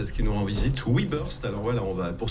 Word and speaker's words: WeBurst: Aujourd'hui, c'est une bonne boîte 100 % qui nous rend visite Webburst.